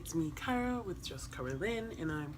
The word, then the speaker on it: Kara: Kara, same difference, it's pronounced Kara.